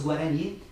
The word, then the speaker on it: Guarani: Tanto que os Guarani, aliás, que é a pronúncia correta no sistema conceitual nosso, né? Os Guarani, que eu conhecia há